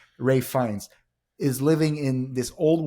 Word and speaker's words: Ralph Fiennes: Ralph Fiennes, but there was a way to say his name. Rafe, my bad. Rafe Fiennes is living in this